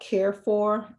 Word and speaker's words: Carrefour: Visit this store called Carefor. It's spelled Carrefour.